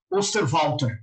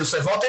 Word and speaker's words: Osterwalder: eu não sei pronunciar direito, eu acho que o nome dele pronuncia Alexander Osterwalder, porque ele é suíço, né? Então, acho que ele é Swiss-German, né? Então deve ter um Walter ali. Quando ele traz esse conceito